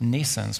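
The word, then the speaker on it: NNAISENSE: to make that a reality it's called Nissan's pronounced Nissan's like in English but spelled in a different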